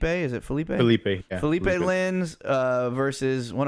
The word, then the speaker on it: Felipe: Philip Lins, or Felipe? Is it Felipe? Felipe.